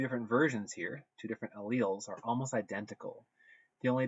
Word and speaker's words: allele: describes that is allele a lot of times students have difficulty pronouncing this it's pronounced like this allele an allele is a